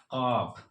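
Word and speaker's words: ق: इसको हम कहते हैं कॉफ। इसको हम कहते हैं कॉफ। इसका प्रोनाउंसिएशन होता है क।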